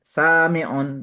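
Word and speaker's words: سامع: Cara membacanya sami'un. Jadi tekan bunyi sami'un. Ada mat. Karena ada mat. Sami'un. Nah, salah yang terakhir itu salah ucap itu. Sami'un. Sami'un. Di tekannya di ainnya.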